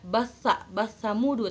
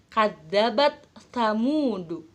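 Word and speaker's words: كذبت ثمود: kadzabat Samudra batsa mudu Jangan dibaca basa-basa mudu tapi harus kadzabat kamundu yang kedua tak Tanis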